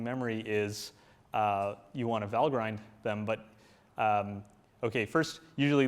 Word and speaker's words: Valgrind: I'm going to say Val grind but the correct pronunciation is actually valgrind because it's from Norse mythology but just as a